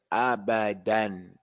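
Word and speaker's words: أبدًا: It says abadan. We're going to pronounce it with the tanween. Then we're going to pronounce it with the med. If this was Quran and we ended at the ayat, it's going to say abada. It's going to be a mud.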